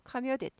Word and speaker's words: commuted: commute come ateed commuted에서 미국 영어는 튀는 발음을 싫어하죠 싫어해요 그래서 교대 약화되어 워터가 워터 됐다가 워터까지 가듯이 해석하면 너무 심하고 commused 정도로 가볍지도 아니고 카뮤디 카미야에 대해서 통근을 했어요